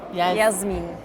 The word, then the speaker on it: Jasmien: and they say Jasmien.